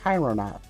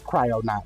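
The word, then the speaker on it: Kryonaut: It's not Cryonaut. Is it? Is it Cryonaut? Or Chironaut? It's Oh, it is Cryonaut.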